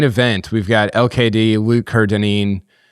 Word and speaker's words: Kerr-Dineen: Kerr-Dineen. If you asked my dad, it's the Kerr that's the issue. He likes to pronounce it Kerr-Dineen, even though it's not pronounced that way.